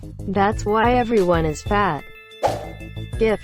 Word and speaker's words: GIF: GIF is pronounced with a hard G.